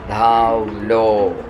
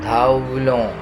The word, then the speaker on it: धावलो: हिंदी धा व लो धावलो. कोंकणीन धवलो न्हय धावलो. ध बरोवन दीर्घ घालगा धावलो.